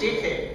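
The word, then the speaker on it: ch'ixi: Porque le escuché Yo lo digo, es cheje. Cheje. Bueno, es un concepto aymara.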